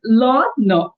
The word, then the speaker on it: learner: The first R is silent. The second R is what you're saying. So it's learner.